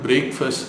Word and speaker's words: breakfast: Night ஃபுல்லாக சாப்பிடாம பிரேக் இருந்து மார்னிங் ஃபர்ஸ்ட்டு சாப்பிட்ற மீல், அதனால வெள்ளைக்காரன் அதுக்கு பிரேக்ஃபாஸ்ட் அப்படின்னு வச்சுருக்கான். அதாவது FAST, ஃபாஸ்ட் இருக்கு இல்லைங்களா? அதை நீங்கள் ஃபர்ஸ்ட்டுன்னு ப்ரொனவுன்ஸ் பண்ணோம்.